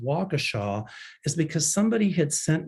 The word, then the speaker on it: Waukesha: The reason that I told people to, that I didn't tell people, but the reason I said it's pronounced Waukesha is because somebody had sent me a personal note, a personal email, how's it pronounced?